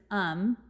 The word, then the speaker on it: Aum: caused by the cult it's spelled a-u-m but the way you pronounce it as um that it will be